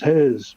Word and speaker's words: Hez: let me reintroduce myself my name is hez pronounced with an s but you know whatever